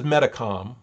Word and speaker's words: Metacom: the name uh philip but his name uh was mostly was most often pronounced or spelled as metacom in uh the wampanoag language okay and so there